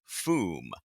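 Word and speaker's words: Fooom: But then there was a footnote that said, academic note, the sound effect above is pronounced "Foom." The third O is silent.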